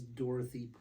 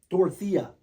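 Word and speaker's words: Dorothea: dorothia dorothia yeah I I said Dorothy several times and there's a there's a t he EA at the end so it's dorthia pente you got to say it like that pente yeah I like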